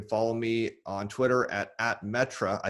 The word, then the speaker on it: Metre: me on twitter at metra i say it it's pronounced different than spelled m-e-t-r-e-steven yeah and i